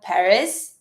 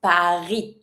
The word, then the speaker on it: Paris: One thing when it comes to the name of the city in French, we never pronounce the S. So, careful. It's not Paris, like we say in English, it's Paris.